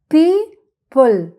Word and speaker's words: people: وهنا صوت البي برضو ب، والال تبقى بل، بل، يبقى people، people تبقى people، people، people يعني أشخاص.